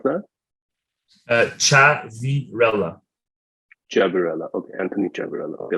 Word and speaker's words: Ciavirella: today I'm really excited to welcome Anthony sorry I I should have asked you for your name first um I'll repeat that how do you pronounce that uh chat virella jabarella okay Anthony gerberello okay let me do